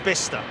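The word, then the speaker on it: Bicester: just crossing the M40 no bista I think it's pronounced bista here we go egpx magnetic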